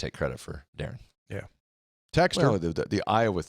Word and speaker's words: Darian: an to the dad why is it Darren and not Daran and he said it is Darren but it's spelled the way that it is because there was another Darren Dev near them and his mom didn't want to get their mail confused that is also Iowa